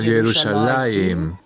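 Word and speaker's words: ירושלים: tradición de las vocales para nosotros, ya se pronunciaba como Yerushalayim, y todo lo que hicieron los masoretas fue registrar la pronunciación tradicional.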